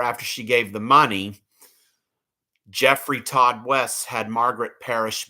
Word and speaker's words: Geoffrey: By the way, the way this name Jeffrey is spelled is Geo FF Y.